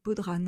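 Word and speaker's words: bodhrán: Et le 4è, mais ça c'est le tout petit dernier, c'est du Baudran. Alors je prononce à la française, désolé pour les irlandais.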